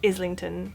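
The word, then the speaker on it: Islington: Comes the weird word I know this looks like I lington but it's is lington you do pronounce the S so this station is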